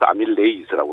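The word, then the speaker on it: amylase: 라제 무슨 라제 하는 것을 에이즈로 이렇게 미국식으로 발음하게 돼 하는데 예 그래서 아밀레이스라고 그러는데 그 아밀레이 침속에 있는 아밀레이스는 특별히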